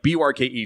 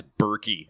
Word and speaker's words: Burke: Like B-U-R-K-E, just Burke. Nice and simple, right? And what I get a lot is Berkey, and I have never understood that.